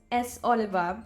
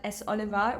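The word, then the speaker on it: s.Oliver: an English pronunciation but the correct pronunciation is S Oliver so just leave the r out not S Oliver but s Oliva replace the r with an A and there you have it s Oliva God we have many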